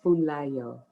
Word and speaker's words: Funlayo: Her name is Funlayo. Nope, don't put the D in it.